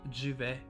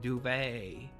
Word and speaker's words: duvet: It's duvet in French, but Americans pronounce it duvet.